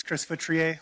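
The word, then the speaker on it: Chris Feutrier: Hi, my name is Chris Foutrier. Last name is spelled F as in Frank, E-U, T as in Tom, R-I-E-R.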